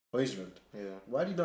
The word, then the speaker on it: Højlund: Højlund. Yeah. Why do you know how to pronounce all these names?